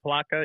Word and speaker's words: Palatka: at I don't know how you say it Palatka Florida Palatka yeah north of Daytona by about 45 minutes